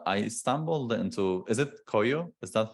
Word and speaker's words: Koio: hmm And I stumbled into, is it Koio? Is that how you pronounce Yep, it? exactly. Yeah, so I stumbled into Koyo more or less by chance.